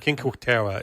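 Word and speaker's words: Cinque Terre: You know, King um Cinco is uh King How do you pronounce it? King Terra.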